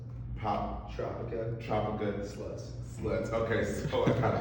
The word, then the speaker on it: Poptropicaslutz: Poptropicaslutz. Poptropicaslutz.